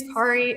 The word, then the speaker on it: Cari: Uh, my name is Ki. It's a weird name, so I always say it rhymes with Safari and people seem to remember it that way.